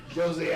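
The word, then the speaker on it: José: hate retirements he wins why do you keep saying Jose that's CU that that's no it's not J silent no sh well the J is silent then why are you saying the J yeah I hear the J mexic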